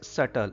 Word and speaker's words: subtle: B is silent here. That's why we pronounce it as subtle.